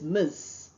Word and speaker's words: Ms.: Ms. pronounced as miss.